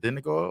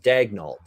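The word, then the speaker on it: Daigneault: or i thought because his name is spelled like a french canadian last name daniel is how you would say it if he's french canadian but he apparently wants it mark dagnolt it said dagnault we figure out a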